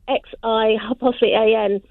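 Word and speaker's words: Xi'an: So X, so your presenter said in Chinese, although it's spelled X-I-A-N in English transliteration, your presenter was telling me that it's pronounced as a chi, but I call it Xian or Qian.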